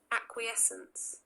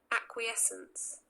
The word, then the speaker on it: acquiescence: इसकी प्रोनाउंसिएशन है Acquiescence. Acquiescence.